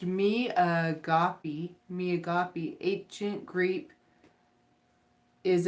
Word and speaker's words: agape: so and it's my name or home sisters pronounced me agape me agape ancient Greek is a greco Christian